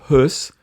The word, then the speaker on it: Höss: también se escribe Rudolf Höss con doble S, porque la SZ es un sonido equivalente a una doble S. Esa es fonéticamente su equivalencia.